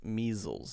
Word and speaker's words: measles: Measles. Z sound. Z sound.